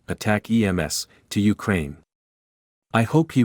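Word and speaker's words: ATACMS: Army tactical missile system addicts pronounced attack EMS to Ukraine I hope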